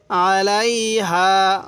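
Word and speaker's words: عليها: আলাইহা, আলাইহা, আইনটা একটু চাপ দিয়ে পড়লে আইনটা সহি উচ্চারণ হবে।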